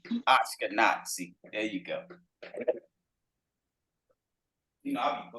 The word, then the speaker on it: Ashkenazi: Pronounce it right. Ashkenazi. Ashkenazi.